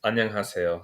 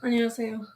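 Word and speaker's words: 안녕하세요: It's annyeonghaseyo. Annyeonghaseyo.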